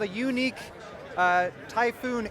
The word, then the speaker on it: Yuneec: is a called a unique uh typhoon H it's a hexacopter unique is spelled y u NE K by the way it's a Chinese based